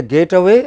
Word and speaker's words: get away: Is it a getaway or get away? What should it be? Get away. You know, the stress is on way.